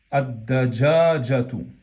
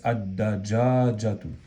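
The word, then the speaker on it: الدجاجة: Ad-dajajatu. Ad-dajajatu. Shamsiya, entonces se fusiona. Y ojo con la jim, no es ja, no es ad-dajaja, es ad-dajajatu.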